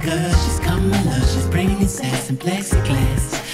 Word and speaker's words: Kamala: Pronounce it right, cause she's Kamala.